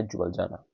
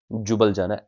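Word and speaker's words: Ljubljana: Serbia Belgrade Croatia जैग्रेप Slovenia जुबल जाना जुबल जाना एल is silent here जुबल जाना जुबली जामा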